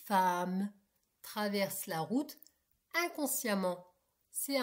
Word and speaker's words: femme: C'est très rare, mais ça existe comme dans cette femme. Donc, tu vois femme, ça s'écrit qu'un e. On ne dit pas femme, on dit femme, traverse la route inconsciemment.